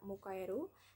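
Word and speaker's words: 迎える: Terdapat 2 cara baca. Secara kunyomi dibaca mukaeru, dan secara onyomi dibaca gei. Kanji ini tersusun dari bentuk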